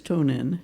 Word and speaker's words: Tonen: So I wanted to make sure I pronounced it right. Well, my legal name is Tonen.